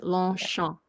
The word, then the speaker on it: Longchamp: It's Longchamp. Oh, Longchamp. It's like you don't have to close your mouth. You don't have to do the P. Longchamp.